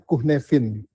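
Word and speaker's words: Cynefin: nama framework itu namanya Kunevin framework Bu. Jadi istilahnya itu tulisannya Sinefin ya, tapi dibacanya kuhnefin karena bahasanya bahasa Wales ya.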